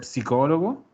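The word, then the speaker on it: psicologo: Lo psicólogo. Acuérdense que se pronuncia la ps. La PS. Psicólogo.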